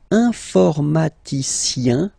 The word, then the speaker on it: informaticien: Alright, and the last group is IEN, informaticien, yin, yin, yin. So that's the way to pronounce this IEN, yin, yin.